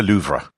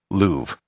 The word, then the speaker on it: Louvre: be pronounced musee de luvra however that is not how i'm going to pronounce it for the rest of this episode i'll be using the most standard english pronunciation of the museum louvre the reason for this